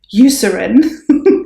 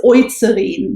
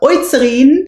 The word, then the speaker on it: Eucerin: That's how you actually pronounce it, but I believe Americans usually say Eucerin, but it is Eucerin because EU is Eu in German. So Eucerin, and it's the Hyaluron.